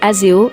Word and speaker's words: Azayo: Azayo, prononcé Azeo, est le troisième enfant d'Alena, et aussi avec Tom.